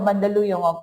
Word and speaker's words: Mandaluyong: And I met him, he lives in Mandaluyong City, but it's outside of Mandaluyong, okay? Not inside. There's a joke in the Philippines about that. How do you pronounce Mandaluyong?